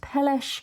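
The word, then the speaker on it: Peleș: the village or town of Saia to see peles Castle so it's spelled p but it's pronounced peles so we got dropped off and then made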